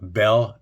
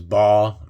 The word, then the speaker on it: Baal: So that place was called Baal Perazim. Remember, this has a lot of pronunciations: Baal, Baal, Bel.